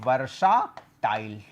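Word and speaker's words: versatile: हालांकि गलत नहीं करना है, वर्सटाइल उच्चारण होता है इसका।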